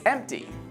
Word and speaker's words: empty: this word and think which letter isn't pronounced we don't say the P it's empty there's this hilarious meme about this actually let's check it out here we read this word as empty not pronouncing the P this still reads empty